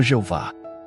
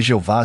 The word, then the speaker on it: Jeová: as consoantes sem vogais portanto a pronúncia exata do nome é incerta yav e Jeová são tentativas de Reconstruir a pronúncia do nome usando as vogais de outras palavras hebraicas o nome e yhw